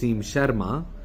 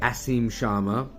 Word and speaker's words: Asim Sharma: So, instead of saying, "Hi, this is Aim Sharma," and I'm pronouncing my name as it is pronounced in Hindi, Brits would say, "Aim Sharma." Americans would say, "Asim Sharma."